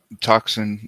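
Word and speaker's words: tocsin: But toxin is phonetically how we would say it in English.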